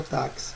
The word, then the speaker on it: táxi: do que letras porque o x ele representa duas letras ele representa a letra k e a letra s né não existe essa